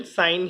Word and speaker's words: sin: इन 6 trigonometric ratios में first है साइन, SINE, जिसे हम SIN लिखते हैं. इसकी प्रोनाउंसिएशन साइन ही होती है.